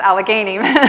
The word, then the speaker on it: Allegany: It's Allegany with that hard G.